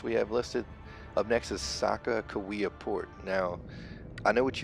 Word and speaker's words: Sacaqawea: wrong it's it's it's it's pronounced right it's known as Sakakawea you know I don't